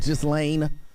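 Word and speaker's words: Ghislaine: discuss is and i i believe you're pronouncing her name just lane maxwell i believe was pronounced just lane she was found guilty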